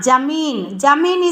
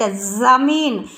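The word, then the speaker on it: ज़मीन: And next one, jamina, jameen is not correct, zameen. See here in below the letter one dot is there, so how it pronounce the word zameen, is it a za, it is not a ja, ja, but here za. The pronunciation you listen very carefully, this is jameen, this is zameen, like a za sound, is it a za.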